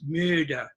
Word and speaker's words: müde: For example, the word tired in German is müde. Ich bin so müde. But if I use English pronunciation, it would sound like ich bin so müde or so müde. And that's not German.